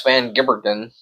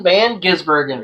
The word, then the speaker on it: Van Gisbergen: Van Gibbergen. Shane Van Gisbergen.